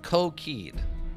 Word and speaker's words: cockade: It's pronounced coquide.